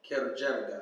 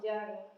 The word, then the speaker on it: Hijrah: Hijrah. Hijrah. Like House of Hijrah.